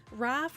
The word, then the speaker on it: Raph: Honestly, it's part it's Raph rhymes with laugh and it's part of my name.